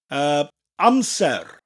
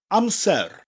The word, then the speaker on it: Amser: But in Welsh, we've got to pronounce that rolling R. I'll give you an example. Amser. Hear that little R, rolling R at the end? Amser.